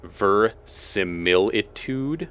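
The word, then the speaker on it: verisimilitude: agree I think um there's an i in the beginning but I think the common pronunciation is ver similitude okay empasis on the mill secondary emphasis on the tude or the primary emphasis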